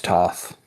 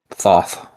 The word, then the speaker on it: Thoth: the way that I've seen it, the way that you're supposed to pronounce it, the TH, it's supposed to be like an aspirated T.